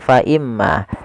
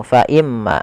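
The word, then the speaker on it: فإما: Cara membacanya adalah menahan suara gunahnya. Faimma tidak langsung faimma. Kesalahan yang sering terjadi yaitu dia apa namanya? Tidak menahan gunahnya. Langsung faimma. Ah ini salah. Yang harusnya adalah faimma.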